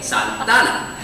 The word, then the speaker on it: Santana: I would spell out Santana this way, capital S-A-N, capital T-A-N-A, Santana. People were furious. People said, why aren't you spelling Santa Ana the proper way? And my response was always the same. I'm pronouncing it, we're spelling it how the natives pronounce it.